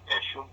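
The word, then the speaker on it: Eshom: Eshum.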